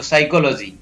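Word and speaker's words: psychology: SY, साई, CHO को को पढ़ेंगे, LO को लो और GY को जी, तो साइकोलॉजी। साइकोलॉजी में P है वो साइलेंट रहता है, निमोनिया में भी P है वो साइलेंट रहता है।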